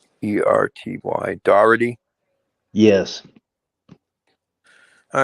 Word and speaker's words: Doherty: And his last name is spelled Doherty. DOGH. Doherty. DOHERTY.